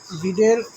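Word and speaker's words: read: অফ our senior teachers ডশ আউট অানুয়াল report রেড out annual report একজন senior teacher তিনি আমাদের বার্ষিক রিপোর্টটি পড়লেন বা পড়েছিলেন রিডের পাস্ট ফম রেড অর্থাৎ রেড রিডের পাস্ট ফর্মের বানান একই রিড রিড রিড কিন্তু উচ্চারণের বেলায় রেড বলতে হয় পাস্ট ফর্মগুলোতে তাই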